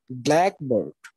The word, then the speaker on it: blackbird: But when it will become a compound, we have only one accent in the first syllable. See here, like blackbird. Okay, but in noun phrase,